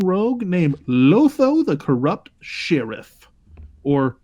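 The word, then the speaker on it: Shirriff: named lotho the corrupt Sheriff or Sharif if you're pronouncing it as it's spelled um whenever a player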